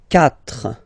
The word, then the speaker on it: quatre: Quatre. Quatre. Okay? So remember that even if you get this u vowel here, basically you don't pronounce it, because that's the rule in French.